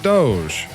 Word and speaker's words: DOGE: on a past show, yes, I know they pronounce it Doge. However, I don't speak Latin. I speak redneck and I'm going to pronounce it Dodge.